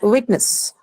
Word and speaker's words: witness: penultimate syllable now. Penultimate. Again, this has the shen suffix, hence penultimate. Now, next is witness.